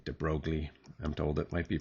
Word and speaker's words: de Broglie: Okay, so this is following the work of, I'm going to say de Broglie. I'm told it might be pronounced de Broglie, but I like saying de Broglie.